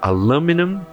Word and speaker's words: aluminum: Então, lu é a sílaba mais forte no inglês americano e o me é a sílaba mais forte no inglês britânico.